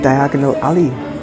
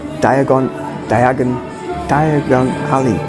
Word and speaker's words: Diagon Alley: And here we have Diagonal Alley. Diagon Alley. Why did I never say it properly.